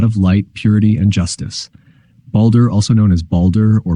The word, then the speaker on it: Baldur: one the God of Light Purity and Justice balder also known as balder or balder is a significant figure in Norse mythology revered